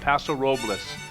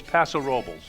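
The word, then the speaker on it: Paso Robles: Savon from pasao California now some people call it pasaras because that's the way it's spelled folks it's pasarobles okay now where is that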